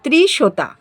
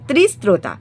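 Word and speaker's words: ত্রিস্রোতা: 69 নম্বর ত্রিশোতা, ঠিক আছে, সরি উচ্চারণটা ভুল করলাম, ত্রিস্তোতা, ঠিক আছে, তয় রফলা হস্যই দন্তে শয়তয় রফলা ওকার তয়াকার, ঠিক আছে, ত্রিস্ত্রোতা, এখানে সতীর বাম চরণ পড়েছিল।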